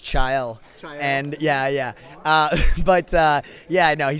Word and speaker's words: Chael: That's pronounced Chael.